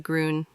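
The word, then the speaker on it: grün: ग्रीन ग्रीन को जर्मन में कहते हैं ग्रून। प्रोनाउंस कैरो ग्रून जैसे ग्रून नेजल साउंड के साथ ग्रून ग्रून।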